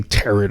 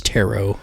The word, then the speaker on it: tarot: you say it because I always say turret I think it's tarot yeah Tarot The Complete Book